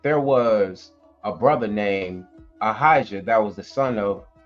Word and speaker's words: Ahijah: It will be pronounced what? Ahijah.